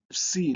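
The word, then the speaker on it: psi: C is also written uh written like uh uh this is the way it is written and it has a a PS sound C like in lips like lips and the last letter is omega.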